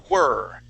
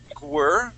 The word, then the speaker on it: whir: But with all other words, if we have a word that starts with W, like the word were, okay, we start off with an oo sound.